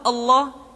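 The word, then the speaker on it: الله: sebelumnya yang ketiga adalah pengucapan lafaz Allah lafadz Allah dimanapun kapanpun maka lam yang terdapat pada lafal jalalah tersebut mesti ditebalkan Allah kecuali kalau lafadz Allah didahului oleh huruf yang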